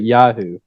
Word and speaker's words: Yoo-hoo: I actually pronounce it Yahoo. So, and I've heard other people say it that way too.